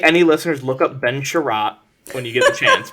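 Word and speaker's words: Chiarot: a r o t it's like Chariot but spelled wrong ah he's all right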